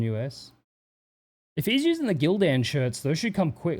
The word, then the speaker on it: Gildan: Gilden. There's no U in it. It's Gildan.